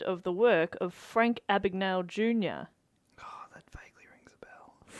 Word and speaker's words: Abagnale: Have you heard of the work of Frank Abagnale Jr.?